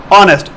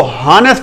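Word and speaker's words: honest: फर्ज माल इंग्लिश का कोई भी वर्ड है, ठीक है, ऑनेस्ट, ऑनेस्ट, अब इसकी सही प्रोनाउंसिएशन है ऑनेस्ट, इसको हॉनेस्ट नहीं पढ़ेंगे, ऑनेस्ट।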